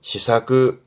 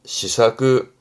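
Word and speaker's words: 施策: 발음은 시사그, 시사그.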